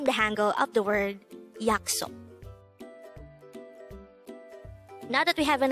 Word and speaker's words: 약속: YAKSOK. YAKSOK. This is pronounced as a two-syllable word. The first syllable is yak, the second syllable is sok.